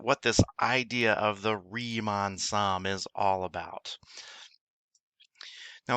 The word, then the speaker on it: Riemann: with reman so you have this new phrase remon Sams is the way it's pronounced that we're going to talk a little